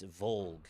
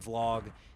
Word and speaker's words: Volg: It's Volg, goddammit. If he pronounces that vlog, then we're gonna have to talk about our grammar lessons again, because that's not how words work.